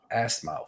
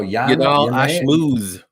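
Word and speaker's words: Ashmouz: We got Trevor Peak versus Yanao Assmouth. Whoa! Assmouth. What? Say it again. You pronounce that. 5 minutes in, baby. No, Ashmooze.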